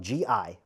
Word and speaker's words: gi: But for anyone new to Jiu-Jitsu, gi, spelled G-I, but it's pronounced gi, and it's the training uniform, similar to what you wear in judo and karate, a jacket and pants.